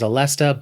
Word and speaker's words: Aleste: I think the proper pronunciation is Alesta, but I'm not 100% sure on that.